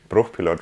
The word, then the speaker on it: Bruchpilot: you mentioned it earlier, brush pilot as you pronounce it, it's Bruchpilot racing, as German as it gets.